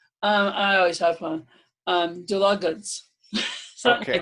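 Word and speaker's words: Dlugacz: Dulugacz. Okay, like so it's spelled D-L-U-G-A-C-Z, just for those of you who are listening.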